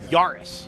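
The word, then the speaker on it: Yaris: Yarus go give me the definitive pronunciation for that car. Brendan Y. No, Yurus. Yurus. There you go. See, you almost did it wrong.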